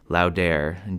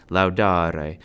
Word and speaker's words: laudāre: have to remember that there are no silent letters in Latin. The spelling of Latin words was on how each word sounded. So if a vowel is there, you should pronounce it. This final E in infinitives is pronounced E.